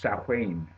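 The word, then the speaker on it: Samhain: Irish word it looks like samh but it's pronounced sahain um the uh October 31st of course you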